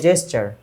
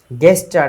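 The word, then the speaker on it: gesture: যতক্ষণ পর্যন্ত সেটা না হবে ততক্ষণ পর্যন্ত সেটা হচ্ছে মিসকনসিভ বা মিস ইন্টারপ্রেট, ঠিক আছে, চলো এরপরে যাই জেস্টার। গেস্টার না জেস্টার, জি এর উচ্চারণ জি হবে।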